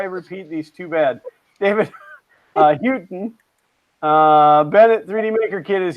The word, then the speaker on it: Houghton: It's pronounced Houghton.